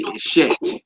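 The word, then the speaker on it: אשת: So that's how y'all would say if you're the wife of a man, you would say Eshet and not Isha.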